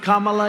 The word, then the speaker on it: Kamala: You ever hear of Kamala? You have to pronounce it Kamala.